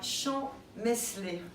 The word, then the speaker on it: Champmeslé: Nous sommes à Champ-Meslay, je l'ai prononcé correctement, ce soir avec le groupe Am Samstag. Est-ce que j'ai bien fait? Exactement.